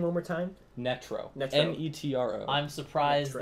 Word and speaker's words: Netro: Netro.